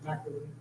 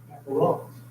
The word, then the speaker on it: macarons: I delivered you guys some, in the South, we called it a French macaroni. Pronounced the correct macarons.